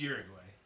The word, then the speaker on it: Uruguay: It's Uruguay.